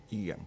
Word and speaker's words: EGAM: EGAM.